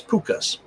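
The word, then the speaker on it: Púca: They're also known as pukas. So you got then which puka means P, not the P-U-C-K-C-A, but P-O-O-K-A.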